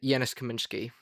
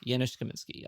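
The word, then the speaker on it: Janusz Kamiński: Uh or uh uh Janice uh Yanis Kaminsky. Yianis Kaminsky.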